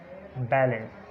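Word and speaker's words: ballet: उसके बाद टी से पहले अगर ई एफ या एस आ जाए तो टी साइलेंट होता है। एग्जांपल्स बैलेट, इसी तरह ऑफन, फसन, गौरमे, सफन, लिसन, इसी तरह विसल और नेस्ले, हसल, क्रिसमस।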